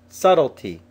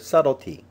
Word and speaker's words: subtlety: repel others as well subtlety subtle humor the letter B is silent in the word subtlety subtlety refers to being